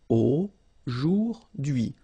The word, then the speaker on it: aujourd'hui: So the first one, A-U-O, jour, and then dui. Okay, H is not pronounced, so you only get this dui thing. Aujourd'hui, aujourd'hui.